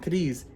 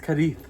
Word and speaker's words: Cádiz: It's not Cádiz, it's Cádiz. So it's Cádiz, Spain. Because they slur their words a little. Yeah, so it's like, at the end it's supposed to be a TH sound at the end though.